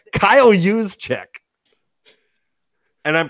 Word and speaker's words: Juszczyk: It's Kyle Juszczyk. And I'm pronouncing his name correctly.